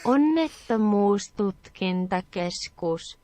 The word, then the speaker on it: Onnettomuustutkintakeskus: pronunciation pretty soon. How about this? Onnettomuustutkintakeskus.